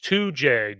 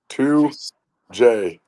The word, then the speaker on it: Tujague: All right, coach 2J. Did I say it right? 2J. You did. 2J.